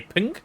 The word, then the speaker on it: PNG: pin stands for number it's ping according to the creator wait really png is supposed to be pronounced ping That's stupid.